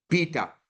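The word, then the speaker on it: beta: बीटा and pronunciation इसकी की ऐसे है बी एज in book B okay so बीटा जैसे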